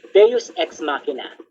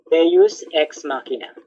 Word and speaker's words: Deus Ex Machina: Another is called Deus Ex Machina. Deus Ex Machina. How do you spell that?